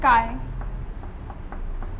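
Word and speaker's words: χ: We represent mole fraction by the by x1, that is we pronounce it as chi.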